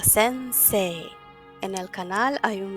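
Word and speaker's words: 先生: la diferencia por ejemplo en la palabra de sense I se escribe sense I sin embargo se pronuncia sense en el canal hay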